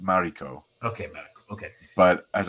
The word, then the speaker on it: Mariko: Okay, and secondly, Morico or in the movie, which we're going to talk about in a minute. To me, it's Morico, but they pronounce it Mariko.